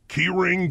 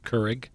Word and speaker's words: Keurig: And I got to say, it might damage the keyring downspout. Keurig. What? Keurig. Keurig.